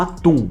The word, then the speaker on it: Atum: Aqui o nome verdadeiro do faraó é Aten, que é inspirado diretamente uma divindade egípcia conhecida como Atum, que também pode ser pronunciada como Aten.